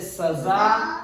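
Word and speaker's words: सज़ा: पर हम लोगों को ज्ञान के अभाव में वो लोग इसे राज पढ़ते हैं, इसे कसम पढ़ते हैं, इसे सजा पढ़ते हैं, इसे गज पढ़ते हैं, इसे तेज पढ़ते हैं। जबकि इनका सबका उच्चारण इन शब्दों से अलग होता है क्योंकि इनके नुक्ता लगा हुआ है।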